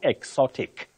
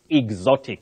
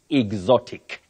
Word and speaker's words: exotic: Betty, it's not exotic, it's exotic. Mm-hmm. Just like you say, example, okay. not example, mm-hmm. example. So the correct pronunciation of that word is exotic.